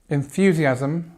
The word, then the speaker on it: enthusiasm: There isn't enthusiasm for the new project.